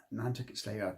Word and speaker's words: Nantucket Sleighride: uh particularly the lyrics of net slay ride net slay ride that's how it's pronounced by a psychedelic Rock Band of the